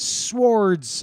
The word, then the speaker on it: swords: He's fucking learning how to fight with swords, right? I say swords, not swords, right? That's how it's should be pronounced because of the W.